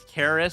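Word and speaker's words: Keres: the guy's name is Karis so there's this test player named k-e-r-e-s which I think is pronounced the same way so you can kind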